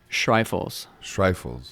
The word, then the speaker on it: Schreifels: how do you say your last name - strife fools yeah yeah that's cool thank you